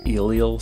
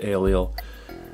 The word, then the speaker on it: Eliel: some people pronounce it elel some people pronounce it aliel I think it's largely irrelevant I think the most